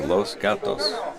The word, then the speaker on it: Los Gatos: 5 against Golden State Los Gatos I've heard people who live out there pronounce it like it's goddess or something like that something like that but it's Spanish it's Los Gatos the cats the cats